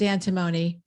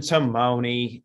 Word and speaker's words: antimony: your clean slate is antimony and timoni i'll get my pronunciation correct antimony i i checked it